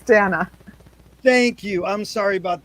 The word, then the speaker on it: Dana: my name is pronounced dana my dad my dad wanted a boy he called me dan so dana thank you i'm sorry